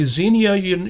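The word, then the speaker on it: Xenia: Zenia, you know, uh, which again may be pronounced Ianu.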